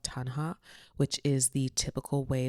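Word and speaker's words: taṇhā: The first is called Tanha. I think that's how you say it. It's called Tanha, which is the typical way that we think of desire as suffering.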